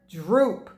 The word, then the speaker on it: drupe: one sound one syllable and it sounds like something else that you've heard droop right so like drop or droop something droop so droop